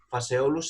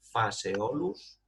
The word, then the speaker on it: Phaseolus: Phaseolus se escribe con PH, Phaseolus.